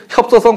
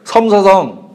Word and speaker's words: 섬서성: 협서성, 섭서성, 아니죠. 섬이에요, 저 글자. 예, 섬서성.